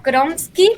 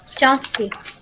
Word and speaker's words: Chomsky: A Kronsky, puede ser, si lo pronuncio bien. ¿Kromsky o Chomsky? Chomsky.